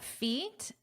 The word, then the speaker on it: feat: The noun feat means something difficult to achieve, similar to a challenge. Notice the pronunciation is exactly the same as feet, eat, so it's that long E sound.